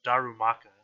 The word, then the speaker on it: Darumaka: we're 6 to four here comes the D Darumaka that's how you pronounce it he's going to go for a